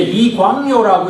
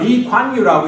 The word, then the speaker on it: 리관유: 우리는 한때 이광요라고 이렇게 그분을 불렀는데 신문에도 보니까 리관유라고 이렇게 이제는 발음이 되는 식으로 이렇게 많이 하더라고요.